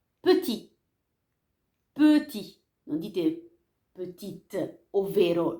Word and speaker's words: petit: Se non c'è nessuna E, la parola finisce con la T, come petit, non pronunciate ovviamente la T.